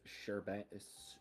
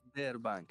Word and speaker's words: Sberbank: Sherbank? How the fuck do you pronounce that name? I don't know. I just saw this come across. Sorry, what? Sberbank. Sberbank? Sberbank. We need No, Sber. Yeah. Sber. It's a Russian word.